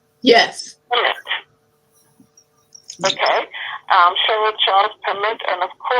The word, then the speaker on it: Pemmett: Pemmett. Now tell me, am I pronouncing it correctly? Yes. Pemmett.